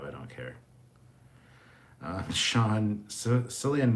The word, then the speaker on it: Cillian: don't care uh sean cillian murphy is pronounced hard c like killian irish language doesn't have a k letter well i'm irish so